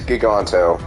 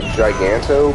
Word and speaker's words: Giganto: the enemy's name is giganto g-i-g-a-n-t-o so other people have pronounce this name like giganto but for some reason I feel like I should call it giganto and I know that